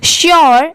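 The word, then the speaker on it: sure: ए डी E made श्यर एस यू आर ई श्यर बहुत सारे लोग इसे सर पढ़ते हैं बट ये रॉन्ग होता है इसकी करेक्ट प्रोनंसिएशन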